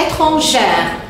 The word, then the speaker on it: étrangère: Alors, dans la prononciation, attention, étranger. Je n'entends pas le R. Je n'entends pas le R. Le R ici, il est muet. Mais quand j'ajoute le E, j'entends R. Étrangère.